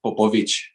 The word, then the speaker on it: Popovici: the record, for everyone, it's pronounced Popovici, like Popovic. Okay. It's just like it would have a CH at the end, Gotcha.